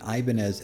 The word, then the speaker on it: Ibanez: ibanez is actually because the company was named after spanish guitar builder salvador ibanez though since it is